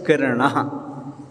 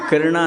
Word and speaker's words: किरणः: सहस्र किरणः, किरणा नहीं किरणः, इसलिए बिना पुस्तक के कभी भी उच्चारण नहीं करना चाहिए।